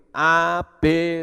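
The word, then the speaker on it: אב: Nah, Bapa itu di dalam bahasa Ibrani itu Ab. Dari huruf Alef Bet itu membacanya Ab, ya, Ab atau Bapa.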